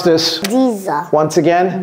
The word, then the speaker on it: diesel: is like that okay this is like a z okay it's like a z d diesel Z and and here you you see the E becomes a z diesel D diesel and this